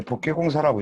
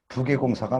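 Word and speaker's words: 覆蓋工事: 그러니까 원래 복개공사라고 읽으면 안 돼요. 원래는 부개공사가 맞는데.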